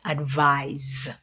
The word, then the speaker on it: advise: How about advise? Mhm. Notice the pronunciation.